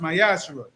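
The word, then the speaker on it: מעשר: ti which is a commandment you can find it in numbers 18 verse 21 and Malachi chapter 3:es 8-10 means 10th in Hebrew and is pronounced myashu 10% of every penny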